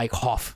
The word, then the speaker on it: Eichhoff: Yeah, Eichhoff. Like I cough when I watch this guy.